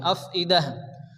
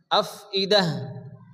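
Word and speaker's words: أفئدة: তো সেই তাকে হাকিনে পরিণত হয় তা হবে আফিদাহ আফিদাহ তাহলে আমরা কি পড়বো এখানে ইন্নাহা নুনের উপরে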